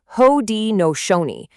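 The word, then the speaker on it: Haudenosaunee: And let's get the pronunciation right cuz it's important. It's Hodi Nooni.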